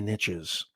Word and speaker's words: niche: riches are in the niches i actually like to say niche but it doesn't rhyme with riches the riches are in